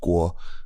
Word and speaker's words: Kuo: Yeah, and so my last name is pronounced Kuo, and I expect most Anglophone people will just say Kuo.